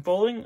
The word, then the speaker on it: Poehling: So we got Shea Weber, Ryan Suter, Look and Couture, Young Gun of Ryan Poehling. Okay. Poehling, yeah. I think it's Poehling. I believe is the correct pronunciation.